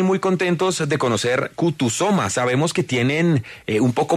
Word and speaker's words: Kutusoma: De resto, tal cual como suena, es una palabra en suahili.